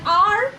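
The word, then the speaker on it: hour: তারপরটা দেখো, অ্যান আর, যেটা আমরা এইচ উচ্চারণ করি না, ও উচ্চারণ করি বলে আমরা অ্যান বসাই।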